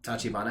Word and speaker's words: Tachibana: How do you pronounce his name? Is it Tachibana? Tachibana, I think. Yeah. Oh my god. Yes. Yeah, you got it.